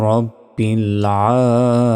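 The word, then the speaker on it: رَبِّ: হাজেরহি লিল্লাহি রবা জবর রব্বা লাম জের বিল রব্বিল আমরা অনেকে এখানে রাব্বিল বলি এটা ভুল বলতে হবে রব্বিল আইন খারা জবর আ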